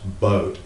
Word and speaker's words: Boot: the Dos boat uh please don't pronounce it boot it's pronounced boat and this is the